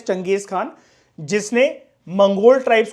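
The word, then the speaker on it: Genghis Khan: इसको वैसे स्पेलिंग जो लिखी होती है दैट इज गंगेज खान। बोलने को आप देखो कुछ भी बोल सकते हो, उसमें कोई लोड मत लिया करो, लेकिन हम इसकी प्रोनाउंसिएशन जो जैसे करते हैं दैट इज चंगेज खान, जिसने मंगोल ट्राइब्स को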